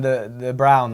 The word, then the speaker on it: De Bruyne: the cameras currently on Kevin the brown as you supposed to pronounce it Kevin de Bruyne knows everyone wants to